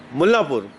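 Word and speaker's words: मुल्लनपुर: मुल्लापुर। एन शायद इसमें silent हो जाता है।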